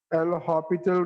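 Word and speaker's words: L'Hôpital: But pronunciation is hospital. So according to which rule? L'Hopital rule.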